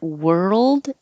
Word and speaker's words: world: And world is like, I spelled it like this to make you think were, like where were you? Because that's really what it sounds like. It looks like OR, sounds like ER.